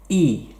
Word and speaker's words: y: it is a word it means and and it's pronounced e numero tres number three